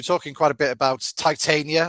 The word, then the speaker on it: Titania: And you were talking quite a bit about Titania or Titania, as I tend to pronounce mhm, it.